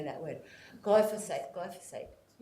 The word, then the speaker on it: glyphosate: word go for safe glyphosate I always want to put another syllable treatment is one that